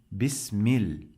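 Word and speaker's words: بسم الله: This lam, we don't pronounce it. Pay attention. We say mil, mil, mil. This is, we don't pronounce this lam.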